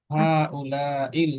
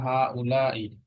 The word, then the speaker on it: هؤلاء: And أولئك মান হাউলাইল আওলাদু? أن أولئك أولاد হাজা এবং হাজিহি, এই দুইটার প্লুরাল হচ্ছে হাউলাই। আমরা পড়েছি, উচ্চারণটা হবে হাউলাই। ঠিক আছে, আবার বলো।